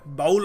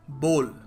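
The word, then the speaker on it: bowl: बी डब् बाउल है बाउल of rice बाउल of soup soup बाउल बाउल है नहीं देखो इसको सही तरीके से प्रोनाउंस करने का तरीका है बोल बोल अ बल ऑफ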